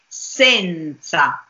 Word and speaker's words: senza: that we have here I read it as it has to be pronounced as diction says sand sun sand with open e but I don't say that when I speak and I don't say that when I sing I say Senza so the difference between